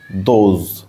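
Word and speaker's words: those: বোঝানোর জন্য করা হয়েছে এখানে দেখো ও এর উচ্চারণ অর্থাৎ ও ভাওয়েলটার উচ্চারণ কেমন হবে সেটা বোঝানোর জন্য এখানে আমরা ভি সিভি রুলস এপ্লাই হচ্ছে কিন্তু প্রথমটা ও টা হচ্ছে ভাওয়েল এস টা হচ্ছে কনসোনেন্ট ই টা হচ্ছে ভাওয়েল তাহলে ভি সিভি ভি সিভি মানে হচ্ছে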